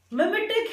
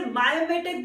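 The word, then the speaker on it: mimetic: Third word आपको क्या बताएगा, मिमेटिक है वर्ड, और कुछ जगह पे से मायोमेटिक भी पढ़ा जाता है। दोनों ही प्रोनाउंसिएशन सही है, क्योंकि बहुत सारी डिक्शनरीज कुछ इसे मायोमेटिक पढ़ती है और कुछ इसे मिमेटिक पढ़ती है। बट मैं यूज्ड टू हूं कि मैं इसे मिमेटिक पढ़ती हूँ, बट मिमेटिक मायोमेटिक दोनों ठीक है।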